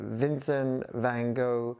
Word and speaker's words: Vincent van Gogh: I used to live in the Netherlands, and there the name of the artist is pronounced Vincent van Gogh.